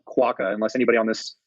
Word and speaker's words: Quokka: It is, I believe, pronounced Quokka. It is Quokka.